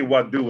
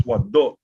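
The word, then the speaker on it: waduʿ: That word is not pronounced wadu. It's wado. Wado. Because so wadu would be spelled W-A-D-U. But the word W-A-D-U. Now they have now started to spell it. They have now started to spell it that way, but that is not the actual way it's spelled. It's spelled W-A-D-U-Ein. And when you see a U and an Ein, we call that sound a glottal stop.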